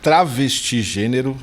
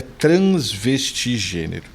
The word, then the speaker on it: transvestigênero: Então, eu acho que eu falei até errado, acho que eu falei travestigênero, acabei pronunciando errado, é transvestigênero, né?